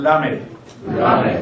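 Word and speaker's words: ל: 이게 이제 여러분 나중에 발음하실 때 L 발음과 R 발음을 구분을 하셔야 되는데 이것은 L 발음입니다. 완전히 그러니까 구르는 소리가 아니고 붙였다가 혀를 입천장에 붙였다가 나오는 이 발음이죠. 라멧.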